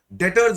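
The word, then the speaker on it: debtors: Is called as डेटर्स क्या बोलते हैं इसको डेटर्स B silent डेटर्स word बोलते हैं।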